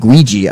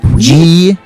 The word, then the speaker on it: Guigi: This was a college-age student man who created a female tulpa of a pony named Guigi. I think I'm pronouncing it right. Ouija? G-U-I-G-I, like Luigi with a G.